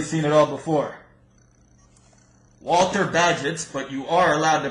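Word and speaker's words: Bagehot: we have really Seen It All Before Walter badget but you are allowed to pronounce it bagos if you like Lombard Street a description of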